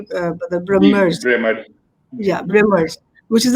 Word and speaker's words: Brahmers: Am I pronouncing it correctly, Badr? Brahmers.